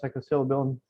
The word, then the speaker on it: psilocybin: And exactly what you thought about, thinking about psilocybin. How do you pronounce it? Psilocybin.